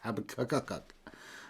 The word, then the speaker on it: Habakkuk: Habakkuk. Habakkuk. Look at the way it's spelled. It's Habakkuk.